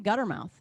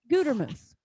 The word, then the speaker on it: Gutermuth: But a lot of people call me Guttermouth. And it's really annoying. It makes me mad. It's like you can't even pronounce a simple word. Come on. One T, one T and a long U. Gutermuth, right? Not that hard.